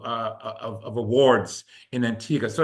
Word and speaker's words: Antigua: And of course, Antigga, you know, it's it's spelled Antigua, but we say Antigga.